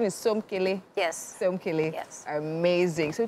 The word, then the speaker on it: Somkele: So the pronunciation is Somkele.